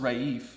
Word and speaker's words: Raif: I'm like, well, it's technically pronounced Raif. It's Moroccan.